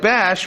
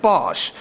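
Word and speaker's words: Basch: pronounce the name differently he pronounces it like bash when in the game it's like Bosch so why the difference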